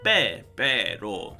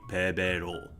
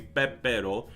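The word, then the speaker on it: 빼빼로: As you can see, the English is Pepero, but we have a double beep here, so we would pronounce it Pepero. So without the double, with like this, it would be Pepero.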